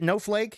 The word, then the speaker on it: NoehFlake: do you say it no flake is that how you say no flake okay like snowlake but no flake okay still texting no flake on January 25th at 11:16 p.m.